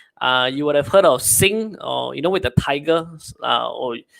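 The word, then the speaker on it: Singha: You would have heard of Sing, or with the tiger, or some pronounce it as Singa, right? But it's Sing Beer.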